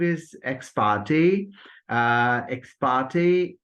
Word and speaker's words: ex parte: Ex parte, after ter sound, there comes a, which occurs in say, main, and wait.